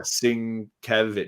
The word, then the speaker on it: Sienkiewicz: And it included in that is the New Mutants, when Claremont started that New Mutants run with Bill Sienkiewicz. Oh yeah, Sienkiewicz.